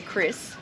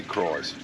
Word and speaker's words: Krys: So then we did the touristy thing, and we went up and checked out, I say Chris. I say Cries. The crocodile. It's spelt Krys. Yeah, Cries.